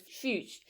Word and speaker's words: Fuchs: whose last name was Fuchs, and that I had just now pronounced it correctly. Finally, Fuchs. You know, the S is silent.